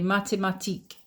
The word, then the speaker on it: mathématiques: la philosophie philosophy J'étudie les mathématiques. mathématiques There's the accent again. You don't pronounce the S at the end, okay? les mathématiques And just to finish